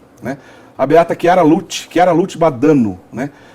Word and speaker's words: Badano: Badano, essa é a pronúncia correta.